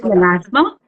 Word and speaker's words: melasma: pronouncing this right is is it melasma yes we call it malasma.